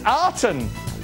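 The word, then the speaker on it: Aten: Aton the solar disc is it aan or is it Aton oh it's Aton tell you what hang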